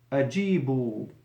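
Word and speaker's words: أجيبوا: Ajibu, as in the Quran, with a waw and an alif. Alif that is written and not pronounced.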